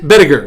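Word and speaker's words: Bedeker: Walter, what is it, Bediger? Bediger, that's how you pronounce it.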